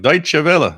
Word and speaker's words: Deutsche Welle: What's Deutsche Welle? But every time I would listen to them, it was like Deutsche Welle. Oh, that's how you pronounce that word.